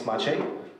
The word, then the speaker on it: Maciej: seen so about me my name is Michiko and I prepared for you a people this is how you should pronounce my name I live in Krakow